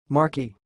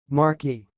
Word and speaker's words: Marquis: the word you see it sounds like Marky Marquis I will repeat Marquis Marquis that's all thanks